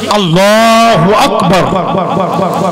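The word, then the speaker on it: الله أكبر: আচ্ছা আল্লাহু আকবার অ্যাকচুয়ালি উচ্চারণটা কি? আল্লাহু আকবার, তাই তো?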